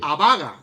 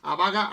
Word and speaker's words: Abaga: Abaga, es acento en la primera, Abaga, que es el